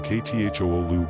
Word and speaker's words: Cthulhu: Long after Lovecraft's death, the pronunciation Kthoolu became common, and the game Call of Cthulhu endorsed it.